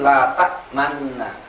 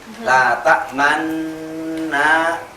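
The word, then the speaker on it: لَا تَأْمَنَّا: Bacaan kalimatnya itu la ta'manna.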